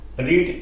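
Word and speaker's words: read: Verb की third form, रीड का third form, रीड, रेड, रेड। Spelling same रहता है, प्रोनाउंसिएशन डिफरेंट हो जाता है, तो ए बुक इज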